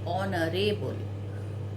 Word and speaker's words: honorable: Honorable, again H is silent here. We say honorable.